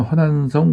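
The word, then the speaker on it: 河南省: 우한이 여기에 있고 중국 정확하게 중국 발음으로는 허난성 후베이성이라고 되어 있죠.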